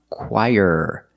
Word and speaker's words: choir: So remember, this word is pronounced choir. Very different than how it looks.